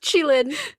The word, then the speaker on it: Qilin: So yes, pronounced Qilin, spelled Qilin.